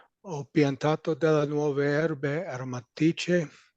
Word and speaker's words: aromatiche: C-H-E, when you have an H after a C, it's a K sound. So aromatiche.